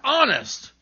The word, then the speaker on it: honest: Other words that begin with silent H are honor, air, and honest.